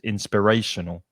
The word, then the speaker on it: inspirational: that's difficult isn't it inspiration five syllables which one is stressed in spiritual the middle syllable is the strongest inspirational mm-hmm and inspirational hymn